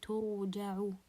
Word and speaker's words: ترجع: And ترجع, the ra here is sakina and it's preceded by a letter with dhamma, as you can see, so ترجع. This is for case number 2.